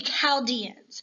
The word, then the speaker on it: Chaldeans: And these were the Chaldeans. And I know it's a CH, but it is pronounced with that K, hard K sound, not a CH sound. Wait, what? I thought it was the Chaldeans.